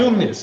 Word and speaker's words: Cosumnes: Cosumnes. It's also a very hard college to spell and pronounce, Cosumnes.